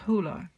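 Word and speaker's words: Hole: name and he pronounced instead of harry hola he pronounced it much more like hula um harry hula so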